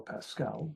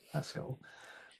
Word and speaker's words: Pascal: introduce is Cleo Pascal I've called her Cleo Pascal but I think she pronounces it Cleo Pasco whatever she calls it